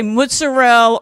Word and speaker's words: mozzarella: How do you say do you say mozzarell or mozzarella? I do mutz. We always said mutz.